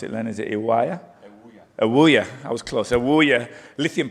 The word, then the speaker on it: Ewoyaa: He was instrumental in the discovery and evaluation of Atlantic's, I can never remember how to pronounce it, Len. Is it Ewoyaa? Ewoyaa, I was close.